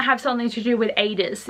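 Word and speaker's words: Aidas: Like, obviously it's gonna have something to do with Adis, is how I think you say his name. I always read it as Adidas, and I'm like, that's not right.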